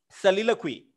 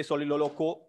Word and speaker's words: soliloquy: Then we have soliloquy. Okay. Pronounce this properly. Soliloquy. Soliloquy. Some people say soliloloquo. It's a wrong pronunciation.